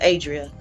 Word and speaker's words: Adria: That's what I've been calling, but it's Adrian. How you say it? Yeah. Hers is Adria. I think her mom is Adrian.